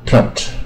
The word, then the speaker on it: prompt: 那财产的是 property。Property，敏捷的呢是 prompt 啊，比较特殊的是